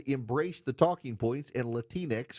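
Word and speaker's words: Latinx: It's that you people decided to rewrite the English language in unnatural ways and then embrace the talking points and Latinex, which rhymes with Kleenex, that no person in the Hispanic community actually says.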